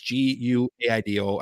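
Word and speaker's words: Guaidó: and a self-inaugurated conservative Juan Guaido, I believe you say it, or Guaido, who is in power. It's Guaido. I honestly have heard it pronounced a couple different ways.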